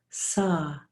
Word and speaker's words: sah: inhale the mantra is hum H am but pronounced hum on the exhale the mantra is saw SAH saw breathing in hum breathing out this